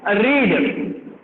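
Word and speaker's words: read: पहली क्रिया लिखना है रीड। रीड का मतलब होता है पढ़ना, और उसका पास्ट टेंस आता है रेड। उसके स्पेलिंग वही होता है लेकिन उसको रेड बोलते हैं।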